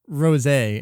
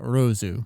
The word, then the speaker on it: Rosé: And I mean, Nozawa is saying rosé and not rosu.